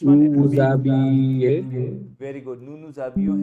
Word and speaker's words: nous nous habillons: nu nuzabilo Nous nous habillons.